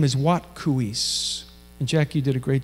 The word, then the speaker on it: Watkuweis: way into the lodge and her name is wat KU ease and Jackie did a great job pronouncing it today maybe you could just say with me what coo eise you'll remember it more as we say it